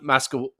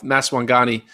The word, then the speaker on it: Maswanganyi: Sean Mascawada? I don't know how to say it. Mascawada? Maswangani. I don't know how to say it. Maswangani. I was way off. Maswangani.